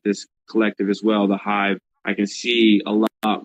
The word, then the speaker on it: Heyeve: The Hive would be a part of that.